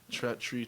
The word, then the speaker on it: Treach: But then he goes goes and he says it comes from the word treacherous.